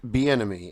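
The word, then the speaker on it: Bieniemy: Browns head coaching search list this is Eric B enemy and yes that is how you say his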